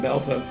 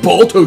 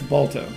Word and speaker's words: Balto: It looks like the beginning of Belta. And that's the Brave Little Toaster startup. And there's going to be a million people going, it's pronounced Balto, you dick. Yes, Balto.